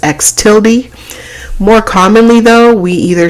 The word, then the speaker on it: x tilde: little uh curly symbol on top that is pronounced x tilde more commonly though we either see the capital